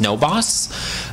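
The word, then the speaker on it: NoBAWC: This is the other one for the network of Bay Area Worker Cooperatives, pronounced NOBOS.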